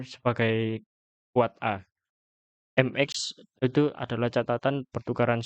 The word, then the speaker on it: AAAA: AAA ini diucapkan sebagai kuat A.